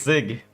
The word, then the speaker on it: Zig: Uh, it's sig. The programming language is sig called sig.